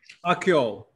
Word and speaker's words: Akyol: i say anything let me make sure i pronounce your last name correctly how do you say that mustafa akyo thank you thank you very much there's a